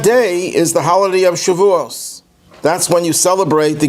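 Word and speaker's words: Shavuot: 6 weeks that's the holiday of shivu or Shu if you want to use the spartic pronunciation shu is the anniversary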